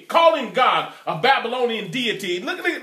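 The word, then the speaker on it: Gad: to Israel for serving God spelled G ad pronounce God the Father pronunciation is gaawd get have some Christmas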